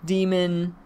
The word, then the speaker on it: Daimon: Daimon, demon. I'm going to say it daimon because that's how they say it in the show.